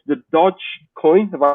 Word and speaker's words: Dogecoin: So it's the Doge coin. Have I pronounced that correctly?